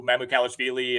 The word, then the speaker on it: Mamukelashvili: So Sandro Mamukelashvili and Charles Bassey can get more tick. That was a phenomenal pronunciation on your part, by the way.